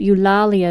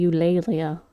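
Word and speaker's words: Eulalia: was the Doomite, and I found out that Ulalia is actually Ulleia. And I was like, "Oh, I've been pronouncing that wrong the whole time."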